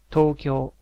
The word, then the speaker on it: Tokyo: In general, each syllable is pronounced with equal emphasis. There's no emphasis or increase in volume for certain parts of a word, as in English. For example, Tokyo in English is Tokyo.